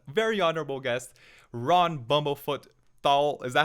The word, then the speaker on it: Thal: we have an very honorable guest Ron bumblefoot Thal is that how you pronounce it right I think I think I